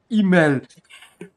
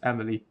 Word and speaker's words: Emilie: I thought it's pronounced email. Don't judge me. Consider how many French names are there. I thought that's a French name too. Oh well. Now we know it's Emilie, not what I just said.